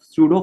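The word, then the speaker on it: pseudo: तो फिर भी हमने इसका नाम फर्स्ट ऑर्डर रख दिया है, तो इसको इसलिए बोला जाता है सूडो फर्स्ट ऑर्डर रिएक्शन, ठीक है। पी यहाँ पर साइलेंट है।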